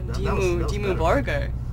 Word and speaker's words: Dimmu Borgir: Dimmu Borgir. Did you see that? I pronounced it correctly.